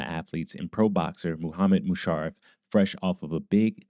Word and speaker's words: Musharaf: Musharaf with me. Did I say that right? Uh, it's Mushar. Musharov. Yeah. Yeah.